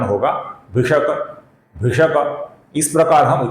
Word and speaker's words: भिषक: भेषजम भिषक, यहां पर क अपूर्ण है, किंतु पद के अंत में आने के कारण हम इसका लगभग पूरा उच्चारण करेंगे।